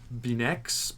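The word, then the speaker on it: Beineix: yeah that director Jean jaac benex Ben I think is how you say his name I'm sure I'm butchering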